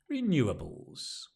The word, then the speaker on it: renewables: And the stress is in the same place. Renewables.